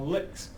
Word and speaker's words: LyX: Uh, do note that, you know, this is again pronounced as an LI KS, L I CS, uh, licks.